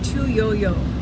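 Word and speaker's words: Tu Youyou: Her name is Tuyou, pronounced in Chinese Tu Yo Yo. Okay, a yo is pronounced, it's spelled you.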